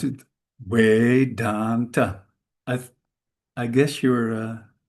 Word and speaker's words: Vedanta: The the V is pronounced softly, gently, something between a V and a W. That's why we say way. In Holland, we have a quite strong fee. We say fe fedanta.